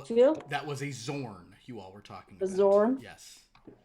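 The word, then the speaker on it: Xorn: remember who knew about zorns which one of you roll high on zorns it might have been shishu actually perhaps trying to find zorns there it's spelled with an X um x-o-r-n and uh I believe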